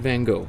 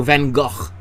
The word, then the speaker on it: Van Gogh: like you're painting alongside van gogh right or van gaach as it's more properly pronounced okay so let's just